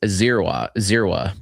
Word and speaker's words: Dzierwa: And I looked up, it's Dzierwa basically is the pronunciation.